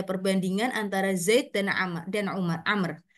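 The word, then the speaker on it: عمرو: antara Zaid dan dan Amr maaf kalau Amr itu tulisannya Ain mim ro W Amr kalau enggak ada wwya itu Umar tapi di sini karena sudah diharakati a kita bacanya amrun Oke tapi e penulisannya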